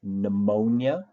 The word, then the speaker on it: pneumonia: with some frequency is pneumonia the P is silent and you start the word with the sound n another one would be